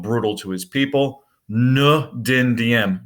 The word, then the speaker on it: Dinh Diem: to his people look Dinh Diem no dendi and make sure you know how to pronounce it as well and then